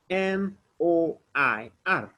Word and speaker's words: noir: Remember I told you guys, whenever you see O-I in French, you pronounce it like wa, wa, wa. So we'll say noir, noir, noir. Remember R, you pronounce it like KH, noir, noir. you pronounce it from your throat.